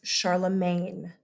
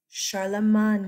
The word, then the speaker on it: Charlemagne: all the time in America as Charlemagne you hear him called Charlemagne because that is the English England the English pronunciation of his name he's not English he's French and it's medieval French it's old French so it doesn't it's not the same language as modern French it's Charlemagne yeah okay okay so Charla